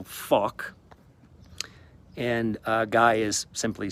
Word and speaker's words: Fawkes: Fawkes is spelt with the F-A-W, so K, so Fawkes.